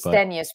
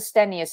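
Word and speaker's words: Blackstenius: last name for everybody i believe it's black black stanius it's stennis but and then i've heard not the stenos and stenus and you know when it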